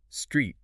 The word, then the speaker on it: street: Street has a long e sound like s r e t. Think meat or feet. High vowel sound, e.